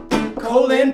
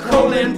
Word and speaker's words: Colin: Yeah, Powell, Colin Powell. He was a military man but didn't believe in war. That's right, people, Powell, Colin Powell, wow. It's spelled like Colin but pronounced Colin.